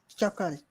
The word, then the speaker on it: chocolate: is a spelling but in terms of the pronunciation you would say it as chocolate okay just chocolate just just two syllables okay choclate all right chocolate yeah chocolate yeah chocolate choc yes choc choc CH okay choclate CH chocolate yes just chalk and let okay chalk let that